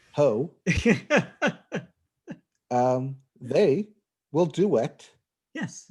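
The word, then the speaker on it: Heaux Tales: Also, I believe that's pronounced hotels. It's Heaux. I believe you're pronouncing that correctly. Yes, I believe it is a pun. Ho.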